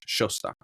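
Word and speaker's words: Szostak: It's the last name is spelled SZOSTOK. Ooh, cool. But that's pronounced like an SH in English. Shostak.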